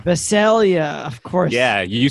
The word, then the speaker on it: Visalia: neck of the woods shall we say uh visalia this is uh viselia vaselia of course yeah you say uh you say it the way keeper sutherland pronounces it and the hitch show 24.